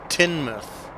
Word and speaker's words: Teignmouth: oh no it's okay most locals pronounce it tin mouth Kate thank you very